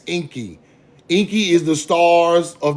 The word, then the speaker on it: Enki: It's Enki. Enki is the stars of the underworld, the stars after dark. Anu is Orion in the center of both of them. You get it? That's why Enki is always connected to the underworld.